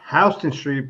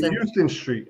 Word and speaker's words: Houston Street: I mean, just like over here in Manhattan, it's Houston Street, but I grew up, it should be Houston Street. I mean, I don't understand why you got to have Houston, Houston, and it's spelled the same way.